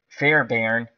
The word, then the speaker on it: Fairbairn: it's ka i am i t a me Fair barn Fairbairn and he made 41 out of 39 extra